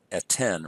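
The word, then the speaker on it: אֶתֵּן: Now that this syllable, tain, has lost its accent, it's now a closed unaccented syllable, so the vowel becomes short. And so we go from a long E, tsere, to a short E, segol. Now that's why you have eten rather than etain.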